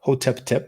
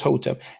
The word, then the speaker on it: Hotep: So you don't pronounce that Hotep Tep, you're just Hotep.